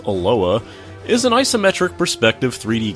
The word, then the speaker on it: ELOA: to look at eloa eloa standing for the mild the Ingy Elite Lord of alliance or simply pronounced aloa is an isometric perspective